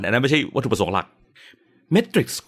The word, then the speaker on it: Metrics: I C S นะ เมทริกซ์ นะ ครับ เป็น คำ ที่ ออก เสียง คล้าย ๆ กับ เมทริกซ์ ที่ เป็น หนัง นะ ครับ จริง ๆ มัน อ่าน